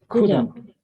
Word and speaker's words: couldn't: The pronunciation is couldn't. You don't have to pronounce this letter L.